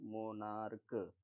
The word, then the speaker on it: monarch: अब मोनार्क लिखा हुआ है तो इसमें हम सी एच को का पढ़ रहे हैं, इसको कैसे प्रोनाउंसिएट करना है, मोनार्क, ठीक।